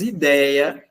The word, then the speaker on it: ideia: O que é que as palavras ideia, heróico e assembleia têm em comum? Elas têm em comum que a sílaba tônica é um ditongo aberto.